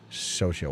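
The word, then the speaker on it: Xochitl: So chill where the X is like an S and depending the T turns silent.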